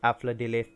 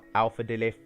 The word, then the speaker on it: Afla Dilith: Yes guys, it is pronounced Afla Dilith, not Alpha Dilith.